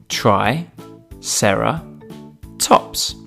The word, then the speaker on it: triceratops: today triceratops try sarah tops can you say it with me try sarah tops let's learn all about